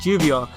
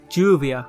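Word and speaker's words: lluvia: from the Spanish word Juvia meaning rain in Spanish - double-l is pronounced similar to english sound between AJ and my Juvia is actually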